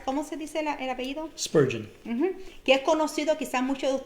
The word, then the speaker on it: Spurgeon: Spurgeon.